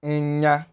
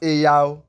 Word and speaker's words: enya: Please pay proper attention to how I'm pronouncing it. It is not Eyao, not Eya. Eya means women, not Eya. It is Enya, Enya. It's a combination of the N and Y that gives you that sound.